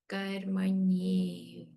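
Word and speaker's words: कर्मण्येव: Karmanyeva. It's karmanyeva in the verse because the next word is an asandhi with it.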